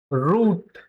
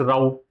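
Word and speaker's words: route: Like in पाउट। जैसे पाउट होता है ना? जैसे पाउ जब सेल्फी देते हैं तो पिग्गू जैसा मुंह बना देते हैं बहुत सारे लोग। उसको पाउट बोला जाता है। तो this word also has to pronunciation. One इज़ रूट एंड द अदर इज़ राउट। Okay? Both are correct.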